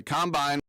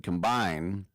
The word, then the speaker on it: combine: They're in Indianapolis for the Combine. And remember, in football, the emphasis on the second syllable. So it's not offense, defense, and combine. It's offense, defense, combine.